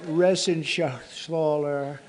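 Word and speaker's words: Reschenthaler: You know that Resenshathaler. That's actually the way you pronounce it, you know.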